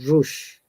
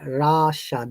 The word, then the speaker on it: Russia: correct pronunciation russia okay not russia once again or russia or rush this is r sound simply rasha the u sounds like ah so the best way